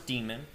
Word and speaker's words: daemon: the system D demon this is pronounced as demon the system CTL command